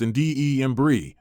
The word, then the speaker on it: Andembry: An embry pronounced indebrie is a prescription medicine.